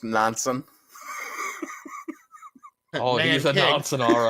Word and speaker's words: Nansen: I think that's pronounced Nansen.